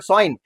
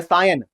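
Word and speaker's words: scion: ऊपर रखोगे उसको बोलोगे साइन या स्काइन या सायन। ठीक है? अलग-अलग तरीके से आप प्रोनाउंस कर सकते हो। एक ये है और एक ये है सायन बोल दो।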